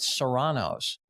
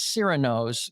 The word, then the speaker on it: Cyrano's: And for the life of me, it's named after Cyrano de Bergerac. He's on the logo. And I just have never understood why people insist on calling it Serrano's. Really? Like the pepper?